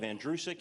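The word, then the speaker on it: Andrucyk: my last name is pronounced like the boy's name andrew who is sick you run it together you have andrewsik it's that simple it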